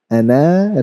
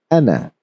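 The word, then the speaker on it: أنا: Now, whenever there is ana written like this, you never pronounce the alif. You always recite it as ana, ana.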